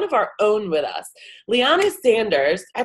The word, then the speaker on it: Liana Sanders: This is Bella Vasta with Jump Consulting, and today I have one of our own with us, Liana Sanders. I pronounced that right?